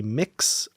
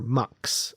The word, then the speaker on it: Mx: I couldn't quite remember apparently there are a couple pronunciations it can be mix or MX apparently for that uh so